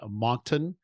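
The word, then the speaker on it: Moncton: he lives let me see if I don't butcher the name of the city he lives in monton New Brunswick Canada did I get that right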